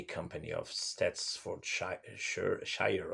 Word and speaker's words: Shire: of stats for sure shire or shira well in lord of the rings is shyer it's shyer here i think and i'm